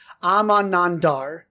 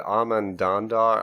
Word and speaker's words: Amanandar: It is called and pronounced Amanandar. I think we said it was Amanandar. I think we added a couple. I think we said Amandandar.